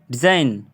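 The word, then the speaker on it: design: रहा है यहां पर डिजइन डिजइन नहीं पढ़ा जा रहा है डिजाइन पढ़ा जा रहा है इसमें जी साइलेंट है उसके आगे रिजाइन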